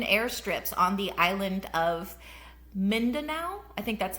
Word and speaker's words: Mindanao: and small hidden airstrips on the island of Mindanao, I think that's how you pronounce it, Mindanao.